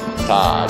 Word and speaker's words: Ta: Ta technically it sounds like Da, means eyes, and Khon refers to the famous Thai tradition.